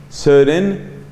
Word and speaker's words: Søren: Y luego hay otro filósofo de origen danés, de Dinamarca, llamado Søren, eso se escribe S-O-R-E-N, Søren.